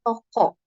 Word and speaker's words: toco: artinya jantung ya ada toco ini nulisnya toco ya bacanya toko artinya kontraksi ya kontraksi